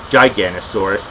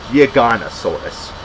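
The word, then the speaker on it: Giganotosaurus: I pronounced it Giganosaurus, but no, it's pronounced Giganosaurus.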